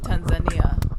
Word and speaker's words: Tanzania: For me, I like to pronounce it Tanzania. Tanzania. Yeah. With a Swahili accent.